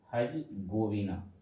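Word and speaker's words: Herzegovina: एस होता है हजबीना एच ई आर जेड ई हरी गोविना ठीक है आर साइलेंट रहता है सेवन नंबर में आ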